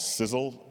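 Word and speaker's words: SISAL: time a language called sizzle sis I'm not sure how it's pronounced s i s a l uh anybody here heard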